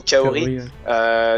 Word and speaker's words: Kaori: certaine manière, notamment putain, chaque fois c'est la prononciation française qui m'induit en erreur. J'avais presque envie de dire Laura, mais plutôt Kaori.